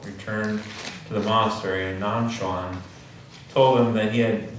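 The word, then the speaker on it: Nanquan: for us nonsense cat nonsense is the um the Japanese pronunciation of nonchon and I don't speak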